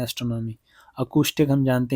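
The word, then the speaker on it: acoustic: बताइए, ये अकूस्टिक pronunciation करते हैं इसे, ठीक है, इसकी प्रोनाउंसिएशन अकूस्टिक होती है।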